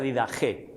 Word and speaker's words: Didaché: la didaje o didaché escrito, pero se pronuncia didagé, eh, didaje apostolorum, que se traduce como la enseñanza de los apóstoles.